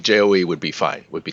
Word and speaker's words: Chou: my last name is Joe Joe it's uh um so it's more like a j than a CH so Joe yeah you can see like j-oe would be fine would